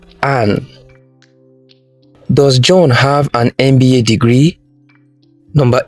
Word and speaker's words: MBA: MBA is an abbreviation, and the letters in this abbreviation are pronounced individually. So the first letter M begins with a vowel sound, eh.